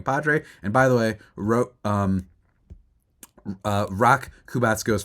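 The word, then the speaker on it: Roch: And by the way, Rock Kubatsko's first name is pronounced Rock. So I said Roach, I think, in the last one. It is Rock.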